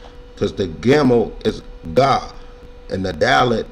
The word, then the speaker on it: gimel: Let's say gimel, as in ga, or as in gia, and get, right?